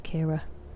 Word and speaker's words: Ciara: to people, it's pronounced like Kira Nightly, but spelled like Sierra, and that would help. But yeah, it's Kira.